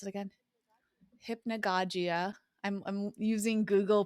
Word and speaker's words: hypnagogia: And then how do you pronounce it again? Hypnagogia.